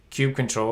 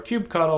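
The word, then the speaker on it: kubectl: you're digging down into cube control or cube cuddle or cube ctl whatever your preferred uh pronunciation is you're probably going down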